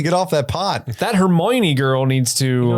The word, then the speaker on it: Hermione: really needs to get off that pot that Hermione girl needs to it's bigger if you trim